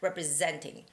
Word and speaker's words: representing: This has also third syllable stress, third syllable stress. So it's representing, representing, representing.